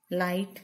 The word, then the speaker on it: light: Next, light. Here see. G. Light. We cannot pronounce G. G is a silent letter.